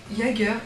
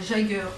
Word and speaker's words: Yeager: Donc oui, je prononce Yeager et pas Jagger ou...